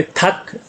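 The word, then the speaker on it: 닭: नीचे रियल और गियक में से मैंने आपको बताया था रियल साइलेंट होता है, सिर्फ गियक बोला जाता है तो थक बोला जाएगा मुर्गी को, थक।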